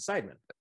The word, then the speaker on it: Seidman: that i got that right right he's pronounced pronouncing sidemen yes sir so the reason why i've got